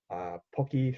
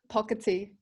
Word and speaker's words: Pocketi: today we have the founder and owner of Pocky shop is that how you pronounce it pocket tee pocket is on sorry I butchered it um